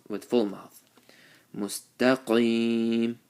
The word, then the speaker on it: مستقيم: Mustaqim, qaf with the full mouth, and ya sakin with the zer before it.